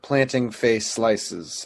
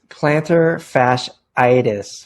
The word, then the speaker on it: plantar fasciitis: It's plantar fasciitis. Fasciitis, not face slices.